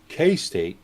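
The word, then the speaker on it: KeyState: uh Nicola and uh K-State that's how you pronounce that I know it says key but it's it's K State uh announced Innovative hydrogen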